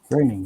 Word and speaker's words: Groening: The way that, you know, Matt Groening, Raining. Yeah, you got it right. It's weird. His name rhymes with raining, so that's how you remember.